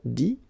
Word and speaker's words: dit: But then phonetically it's I as well, because you don't pronounce the final T, okay? Écrire, écrit. IRE, IT, same group. Dire, dit.